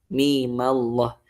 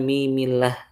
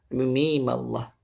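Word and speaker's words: مِيمَ اللَّهُ: Mimallah bukan mimillah. Mimallah. Nah, kemudian selanjutnya panjangnya apakah kita baca dengan dua harakat atau baca dengan en harakat pada kata mimnya itulah mim.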